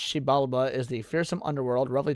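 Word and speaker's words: Xibalba: Jibiala. That sounds Chinese. That's worrisome. But okay. Pronounced Sheibala is the fearsome underworld roughly translated to place of fear ruled by malevolent death gods.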